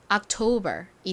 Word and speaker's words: October: 자 10월 어떻게 열나요 한국식으로는 옥토버 아고 읽는데 실제 미국식 발음으로는이 단어에서가가 아니라 아 소리로 쓰였다고 말씀드렸죠는 기억 받침으로 들어가고요 는 티 소리는 오 소리 그리고 또 셉템처럼 be 나왔어요 B 소리 나죠 발음해 보면 October이 됩니다 October 자 다음 11월